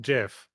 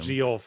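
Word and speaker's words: Geoff: of Monmouth where it's spelled g e o FF but it was always pronounced Jeff saying g off it's weird um you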